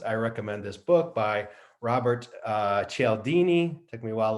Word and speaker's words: Robert: I recommend this book by Robert Cialdini. Took me a while to learn how to pronounce his name.